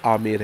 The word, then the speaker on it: आमेर: ठीक कर दिया, जैसे शायद स्टार्टिंग में मैंने इसको अजमेर बोल दिया था, बट ये आमेर है, मैंने उसको बाद में